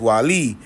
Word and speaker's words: Guale: One of those tribes were the Guale, pronounced Wali, Indians, and a complicated society that populated lands from the coast of Georgia.